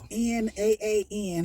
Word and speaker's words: naan: It's NAAN. However you choose to pronounce Let's go with naan.